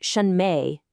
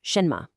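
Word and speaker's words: 什么: See in shinma and mingzi, those last syllables me and z, they're totally unstressed. They're quick. They're light. It isn't shenme, it's shenma. It's not mingai.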